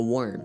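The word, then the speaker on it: Wyrm: Not a worm, a worm spelled with a Y.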